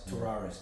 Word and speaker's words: Tavares: Am I pronouncing right? Arian Tavares. Tavares, yes.